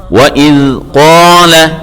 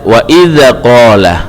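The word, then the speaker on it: وإذ قال: Cara membacanya adalah wa idz qala, jangan dibaca wa idza qala.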